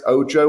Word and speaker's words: OJO: the real the chief real estate officer at OJO Labs. Is that right, Chris? Ojo or OJ? Should I pronounce it?